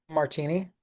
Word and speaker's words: Martini: Is your last name Martini? Yeah. Yep. Is it really? Yeah, just like the drink.